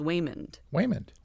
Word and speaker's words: Waymond: Okay, so it's not Raymond being butchered by an Asian accent. It's his name is Waymond.